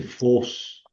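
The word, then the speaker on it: φῶς: Este, el alarga la vocal, o sea, dice fos. Fos es una omega con acento circunflejo. C es una palabra de una sola sílaba. Entonces, pues no puede llevar el acento más que el sobre la o, pero de todas maneras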